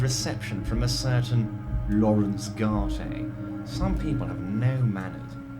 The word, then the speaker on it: Garte: from a certain lawrence garter some people have no manners pains me to say oh so it's garter it's not guard okay so i've been